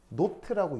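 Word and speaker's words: naught: 그래서 걔를 뭐라고 읽다 공식 표현은 노트인데 근데 실제로 그냥 대충 읽을 때는 다 제로라고 읽긴 해요 제로 아니고 노트인데 뭐야 그래서 이런 조건들을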